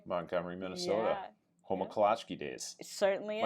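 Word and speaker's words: Kolacky: Home of Kalachki days.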